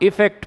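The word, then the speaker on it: effect: दोनों का प्रोनाउंसिएशन भी थोड़ा सा डिफरेंट है। जो ई से स्टार्ट हो रहा है उसे आप इफेक्ट पढ़ेंगे, और जो ए से स्टार्ट हो रहा है उसको आप अफेक्ट पढ़ेंगे।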